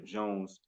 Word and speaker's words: Jones: with the Jones, and that's pronounced the Jones Ken Sean, which has become a dynamic duo actually with their hit track Nights Over Champagne.